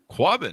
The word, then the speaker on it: Quabbin: The book is called Before the Flood: Destruction, Community, and Survival in the Drowned Towns of the Quabbin. I'm not sure. Did I pronounce that right, Elizabeth?